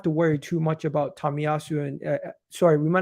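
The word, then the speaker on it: Tomiyasu: um excuse me you pronounced it wrong it's pronounced tamiyasu C is it C or Sue C tamiyasu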